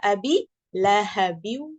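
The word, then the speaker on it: أبي لهب: Qiraat yang kedua adalah abi lahbin dengan haknya disukun. Maka kalau kita dengan qiraah riwayat Hafs an Asim, kita bacanya tabbat yada abi lahabi wa tab.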